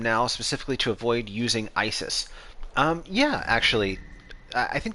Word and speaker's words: Isis: so for one thing isis is her greek name uh isis is how the name was adopted into greek and then that's how it spread through the roman empire as the cult of isis uh obviously not pronounced isis as the english pronunciation